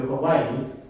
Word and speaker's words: Hawaii: Makawao Hongwanji Mission of Hawaii, or Hawaii, right? I should say it correctly, Hawaii.